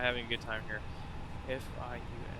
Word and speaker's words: Fiume: F-I-U-M-E. How do I fucking pronounce it in Italian? Fiume. Thank you, Google.